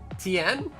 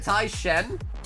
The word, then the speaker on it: Tien: You said Tai Shen? Yeah, I don't know why. Maybe I was thinking of League of Legends. Shen from League of Legends, maybe. Say Tien again? Yeah, I know how to say his name.